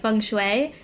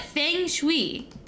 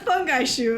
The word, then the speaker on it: feng shui: The name of this traditional ancient Chinese practice, a geomancy, is said can be pronounced two different ways: feng shui, or feng shui.